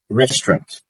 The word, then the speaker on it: restaurant: Restaurant, 2 syllables.